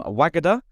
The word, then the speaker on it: Wagada: on the podcast today we've got Cheryl from wagada I've said it right this time haven't I